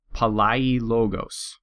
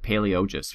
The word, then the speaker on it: Palaiologos: Palaiologos. I like to pronounce it Palaiologos for some reason, but it's Palaiologos.